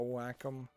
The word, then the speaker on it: Wacom: be what you would want is like a Wacom uh tablet and yes that is how you actually pronounce that word um hmm but yeah building